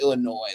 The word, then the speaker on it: Illinois: It's uh it's pronounced Illinois.